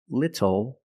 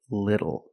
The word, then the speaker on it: little: but phonetically it is when you see tle e or TTL e phonetically the t is between vowels and for this reason the T changes to a fast D in American pronunciation that's why we do not say little we say little and we do not